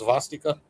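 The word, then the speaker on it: svastika: That's what this the word swastika actually comes from uh I guess Sanskrit. I think uh they pronounce zvastika.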